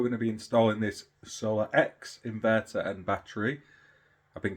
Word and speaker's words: SolaX: one today we're going to be installing this solar X inverter and Battery I've been calling it a solax it's my stupid pronunciation of things it is solar X and